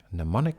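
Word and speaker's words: mnemonic: for those word Geeks pneumonic actually has a silent m in the beginning m n m o n i c ponic pneumonic devices so the alphabet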